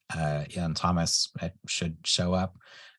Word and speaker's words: Iain: My first name is spelled Iain. Kind of looks like Lane sometimes to some people.